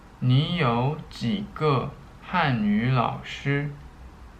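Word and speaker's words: 十: okay so in Chinese when you come to 10 it's pronounced sure okay let's review what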